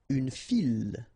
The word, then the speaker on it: file: Une file. Okay, so don't try to, well, don't mix it with une fille, okay, because you get the double L, but in that case you get only one, so une file, okay, un fil, une file.